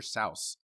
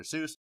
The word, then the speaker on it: Seuss: pronounced his name dr sauce that is the german pronunciation of his i want to say